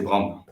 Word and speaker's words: Braun: La prononciation correcte, c'est comme pour les rasoirs, c'est Braun.